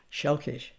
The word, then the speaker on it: selkies: I'm going to begin with the three constructs of Selkies, which is actually pronounced Shelkish, seal people and what they might mean.